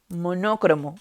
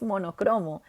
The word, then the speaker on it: monocromo: alguna vez uy sí la mayoría de gente dice monocromo pero no es así la palabra es monocromo la que sí puede